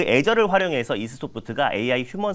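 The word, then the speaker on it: Azure: 이 발음이 한글로는 또 애저라고 적혀 있더라고요. 맞아요. 네, 그래서 외래어가 좀 발음하기가 좀 애저라고 할게요.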